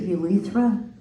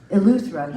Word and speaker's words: Eleuthera: I remember at one point you guys FaceTimed me from, how do you pronounce it? Urethra? Eleuthera.